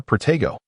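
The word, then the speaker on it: Protego: Once more, Progo. Henry patiently corrected their pronunciation.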